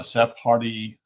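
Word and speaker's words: Sephardi: He was descended from a rabbitical I don't know if I remember it uh Seph Hardy is how you pronounce it s e p h a r di line with roots in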